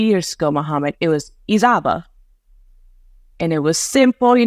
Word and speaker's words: Izaba: to my authentic abame pronunciation of my name is isaba which is I understand